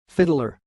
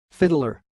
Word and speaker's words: Fittler: The word you see sounds like fiddler. Fiddler.